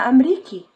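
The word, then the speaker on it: أمريكي: Ana Amriki.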